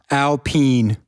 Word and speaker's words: Alpine: video this week that it's pronounced alpene yep can't confirm like what are you talking about it's alpine it's not the beer j calm down yeah